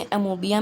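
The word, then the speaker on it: amoeba: इसको अमोबिया, ये इसका करेक्ट प्रोनाउंसिएशन नहीं है, इसको हमेशा अमीबा बोलते हैं, ओ साइलेंट रहता है, लेकिन कई लोग इसको अमोबिया बोलते हैं, तो वो गलत है। लेकिन इसका ओरिजिनल प्रोनाउंसिएशन क्या है? अमीबा, अमीबा।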